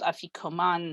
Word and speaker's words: Afikoman: which I transliterated Afikomen, even though it's spelled Afikoman, mostly because my spell checker insisted on it and I got tired of fighting with it. But yes, that it is an ah sound in the Aramaic.